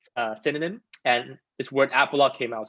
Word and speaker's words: Apologue: it's pretty funny because a lot of people uh mispronounce it people say you know i've heard like apology apollo grey app lodge so it's funny but